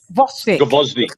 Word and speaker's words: Gvozdyk: What's his how do you pronounce it? Vosnik.